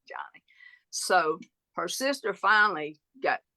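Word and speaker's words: Joni: to be a girl so it's j o n i but they pronounce it Johnny so her sister finally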